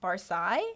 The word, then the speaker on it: Barsi: Another last name I had to look up because the way it's spelled is Barsi, and I want to say Barsi. Yeah, but it's Barsi, which is an interesting last name.